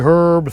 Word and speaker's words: herb: Keeps herbs the freshest, the Herb Saver. We pronounce it herb because there's an effing H in it.